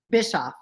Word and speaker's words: Bischoff: Bischoff.